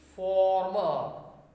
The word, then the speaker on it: former: What change do you notice while pronouncing? While pronouncing this first one, your lips get rounded. Former. Your lips get rounded. Former. And while pronouncing this one, farmer, the mouth opens wide. The mouth opens wide. There is a gap between the two lips.